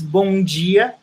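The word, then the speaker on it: bom dia: say it which is bungie the d for us has the sound of g in english so when you want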